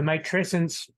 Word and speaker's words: matrescence: So matrescence came out of anthropology, but it's the describing of becoming a mother, and it rhymes with adolescence because it's meant, that's done at purpose.